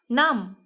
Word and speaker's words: numb: MBৰে শেষ হোৱা শব্দৰ বিটো silent letter, মানে বিটো মনে মনে থাকে। আমি বিটো উচ্চাৰণ নকৰাকৈ এই শব্দকেইটা ক'ব লাগিব। thumb, dumb, crumb, numb. Say again.